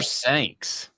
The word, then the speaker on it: Sanks: Rhymes with Banks. Speaking of James Banks, was a big, huge bust because of his own ego. Jasper Sanks.